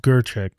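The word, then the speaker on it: Grichuk: It's spelled like Grchuck, but it's pronounced Gerchek.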